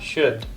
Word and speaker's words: should: Should. Like stop the air coming out of your mouth when you hit the D and should.